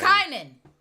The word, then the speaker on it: Kynan: Kynan. There it is. Kynan. Believe it or not, the wise and eyes make a difference when you're spelling things phonetically.